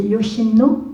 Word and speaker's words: Yoshino: je vaêtre mal prononcé c'est Yoshino on dit comme ça oui et quand il